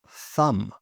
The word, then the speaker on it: thumb: Thumb.